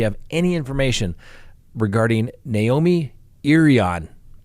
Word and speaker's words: Irion: any information regarding naomi irian i know it's spelled i r i o n but it's pronounced irian who knew a crazy